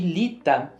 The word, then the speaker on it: Litha: Lita, a gente pronuncia lita mesmo.